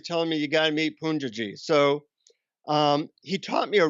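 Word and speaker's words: Poonjaji: you meet him well they pronounced a punji G and he's a famous guru in India he's gone now but everybody was telling me you gotta meet Punja ji so he taught me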